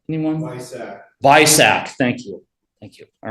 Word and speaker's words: BISAC: If you look at the second one, delete field 600 if 600 subfield 2 matches Bizach, what's the official pronunciation? Anyone? Bisac. Thank you. All right, Bisac.